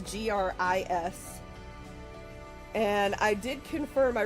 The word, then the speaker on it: Gris: So we are going to be playing a game today called Grease. That's how I've heard it pronounced, like cooking grease, but it's Gris.